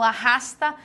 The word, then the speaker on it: arrasta: o que o ch-lh-nh os dois erres eu falo arrasta não falo a Ah tá eu faço tudo junto pássaro também é uma